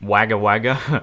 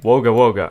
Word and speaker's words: Wagga Wagga: apparently Wagga Wagga from last video is not pronounced Wagga Wagga but wogawoga apparently apparently we have 28.8 000 subscribers and